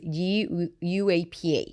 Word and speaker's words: WAPA: But we were thinking WAPA like a regular, like how is in Spanish. Sure. Because in Spanish is UAPA.